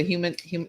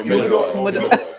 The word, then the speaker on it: humidor: Am I saying it right? The human. No, Humidor.